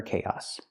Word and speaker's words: chaos: Remember the word chaos, the pronunciation. It doesn't match the spelling.